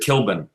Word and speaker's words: Kilbane: a gospel singer, and he pronounces it Kilbane, So I was like, the first time I heard it say it, I'm like, what? What do you do? Yeah, but, he knows better than anybody because he's still there, So Right. that would be the original pronunciation.